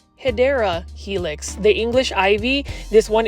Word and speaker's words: Hedera helix: then here is a HRA helix or the correct way to say it is hedera Helix the English ivy this